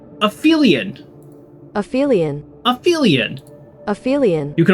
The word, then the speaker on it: aphelion: Okay, but how do I pronounce it? It's when Here we go. Aphelion. Aphelion.